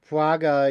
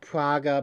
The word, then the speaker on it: Prager: up for for the praga youu newsletter um you know what what's he called Dennis Prager I I pronounce it praga because I assume it's a German name um it l translated